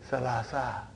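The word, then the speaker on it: ثلاثة: you have salah certain but in pronunciation we will say selasa huh ha ha ha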